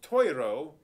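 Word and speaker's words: +iro: It's pronounced Toiro, but it's spelled plus I-R-O because plus is to for and anyway.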